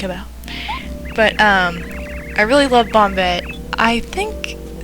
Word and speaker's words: Bombette: I think some people like pronounce her name Bombay, maybe? I don't know. I've heard like a million different ways to say this name, but I always said Bombette, so I don't know.